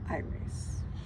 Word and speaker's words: Aires: Excuse me, I know I pronounced that badly, but it's how I say it, as if it were the sun sign Aries, but it's I-race, like I race.